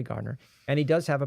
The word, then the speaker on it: Gardner: It's spelled Gardner, but it's actually Gardner.